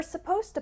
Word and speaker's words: supposed to: a z sound suppose and supposed to has a s sound supposed to finally let's